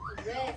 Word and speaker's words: wrist: Wrist. There's that silent letter, huh? That W. Okay, here we go.